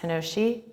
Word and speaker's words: Hinoshi: And so this is my current body of work, and it's pronounced Hinoshi, and that means trail in Choctaw.